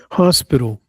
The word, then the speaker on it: hospital: Hospital. A. Stress on the first syllable.